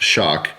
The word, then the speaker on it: XOC: our new limited edition xoc pronounced shock there are only two